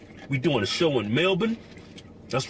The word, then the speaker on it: Melbourne: Australia in April we doing a show in Melbourne that's right I pronounced it right not Melborne it's melbour it's mab right we go in